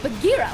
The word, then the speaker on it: Bagheera: But it should be Bagheera. Like, Bagheera's where it comes from, I think. Your pronunciation of it is perfect too. So you had the right idea. Like, so what I did is I put the J of Jackson in for the G in Bagheera, and it was like